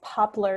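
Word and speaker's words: Poplr: sorry so it's called I think it's popular is how you say it it's p o LR so it looks like popular without the A and it's super easy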